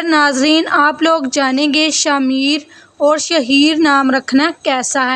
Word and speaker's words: شامیر: پر وہ نام ہو۔ شامیر جو نام ہے اس کا درست تلفظ شامیر ہے۔ شاہ اور میر دونوں